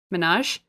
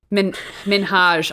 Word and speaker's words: Minhaj: Minaj? Sorry, my phone is cracked, so I've lost the last letter of his name. I think it's Minaj. Minhaj. I'm sorry.